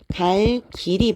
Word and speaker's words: 갈 길: 예를 들어 보면 자 갈 길이 멀다 이렇게 할 때도 띄어서 읽을 때는 사실 갈 길이 멀다 괜찮습니다 근데 이거를 빠르게이어서 붙이게 되면 갈길 이렇게 발음을 하게 되죠 그다음에 어 나 오늘